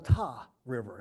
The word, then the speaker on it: Tar River: Tar River or the T River has anybody ever said t that's a real eastern North Carolina pronunciation well that pronunciation come